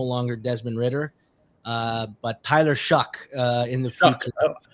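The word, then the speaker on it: Shough: It's no longer Desmond Ridder, but Tyler Shuck in the future. Shuck.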